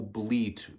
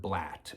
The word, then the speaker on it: blat: Now, what you need to picture using a doe bleat grunt tube to communicate that sound, it's not bleat, it's the word blat, B-L-A-T.